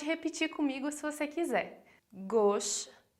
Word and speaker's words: gauche: Aqui repara na pronúncia da palavra gauche, que a gente vai falar o AU com o som de O. Então, a gente vai falar gauche.